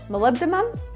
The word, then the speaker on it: molybdenum: Molybdenum.